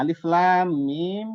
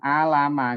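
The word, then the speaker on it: الم: ayat yang pertama ini kita tidak membacanya langsung kita sambung Alama gitu tidak tapi sepotong-sepotong makanya dinamakan dengan horrofon yang potongan-potongan jadi dibaca per hurufnya maka di sini dibaca Alif kemudian lam dan Alif Lam Mim dan kemudian lam mimnya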